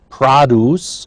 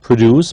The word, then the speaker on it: produce: Produce. Notice it's a noun, therefore not produce, but produce.